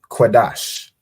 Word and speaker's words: Qadash: And then this one would be pronounced as Kwa. Like in Qadash. It's this Kwa sound, right?